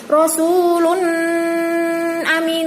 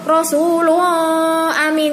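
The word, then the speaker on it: رسولٌ أمين: Bacanya harus jelas, tidak boleh dengung, tidak boleh berengeng. Seperti ini, Rasulun amin, tidak boleh. Atau Rasulullah amin, tidak boleh. Harus jelas, Rasulun amin.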